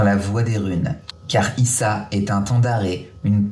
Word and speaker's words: Isa: Signification glace, prononciation Issa. Ah d'accord, ok, donc c'est Issa.